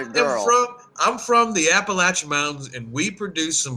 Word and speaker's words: Appalachian: Appalachian. Well, for those of us that live here and know how to pronounce it, it is the Appalachian Mountains.